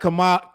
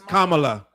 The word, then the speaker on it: Kamala: believe Remy knew that kamama I'm saying her name wrong it's Kamala Kam it's Kamala right I always say Kam it's kamla Harris a landslide it